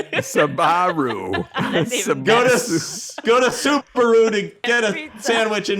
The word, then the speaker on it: Subaru: know Bob sagot ribiero I love that you mispronounced something else too Ribero there you go sabaru sabaru go to go to Subaru to get a sandwich in my sabaru I'm totally confused it's so awesome and and